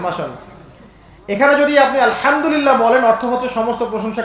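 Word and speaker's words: الحمد لله: উচ্চারণ কোথা থেকে করতে হয়? মাঝখান থেকে। মাশাআল্লাহ। এখানে যদি আপনি আলহামদুলিল্লাহ বলেন, অর্থ হচ্ছে সমস্ত প্রশংসা কার জন্য? আল্লাহর জন্য, রব্বুল আলামিন, তিনি জগৎসমূহের প্রতিপালক। যদি বলেন আলহামদুলিল্লাহ, বড় হায়ের জায়গায় ছোট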